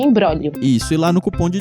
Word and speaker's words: imbróglio: do episódio então é uma palavra é um imbróglio brolio só tem um jeito nenhum muda então é i.a. mbr o com acento agudo né gl ó então em blog hélio mas a gente pronuncia imbróglio fui lá no cupom